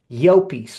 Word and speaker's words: Llopis: It's Llopis, like yo peace.